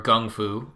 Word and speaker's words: kung fu: of those there's another kung fu book or gung foo if you want to pronounce it correctly strangest secrets this is